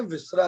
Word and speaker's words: viscera: इसको आप बोलते हैं विसरा रिपोर्ट।